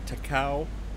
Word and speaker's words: Takao: these guys these are takao heavy cruisers takao is actually the correct pronunciation i guess named after a mountain just outside of kyoto so two cows